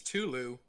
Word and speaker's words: Cthulhu: crafty and horror names the more uncomfortable it is to say the closer you are to getting it right yeah uh one of